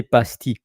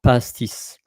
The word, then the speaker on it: pastis: or e is that we don't say pasti uh because pasti it's more pastis past like the beverage the alcoholic beverage pastis and also when it